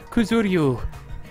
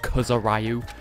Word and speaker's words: Kuzuryu: The last 3 letters of that name are not 2 syllables. Kuzuryu. It's a compound syllable in Japanese. Please tell me that they point out to the voice actor that his name isn't Kuzurayu.